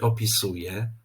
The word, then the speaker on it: opisuję: z tej Uwagi mianowicie jeżeli w wyrazie mamy na końcu Czyli w wygłosie wyrazu samogłoskę nosową ę to podczas wypowiadania takiego wyrazu ta samogłoska nosowa traci tę cechę nosowości i po prostu wymawiana musi być jako zwykłe e czyli zamiast mówić tak